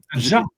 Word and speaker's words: Nadia: Nadja. Ouais. Nadia. Ouais, mais ça se prononce Nadia. Enfin, moi, je le prononce Nadia, en tout cas.